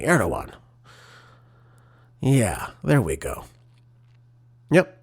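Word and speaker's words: Erdoğan: And again, it comes in as uh you know, heightened inflammatory rhetoric from Turkish President Reep Adawan Erdogan, excuse me, Erdogan.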